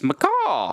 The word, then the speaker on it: McCall: And McKay? Daniel. No, that's Fouts. I've got Okay. another. So Actually, I said it wrong anyways. It's McCall. Yeah. McCall. McCall.